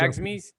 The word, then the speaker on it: Fredagsmys: I want to say it's Fredagsmys. Pronunciation comes up. Fredagsmys.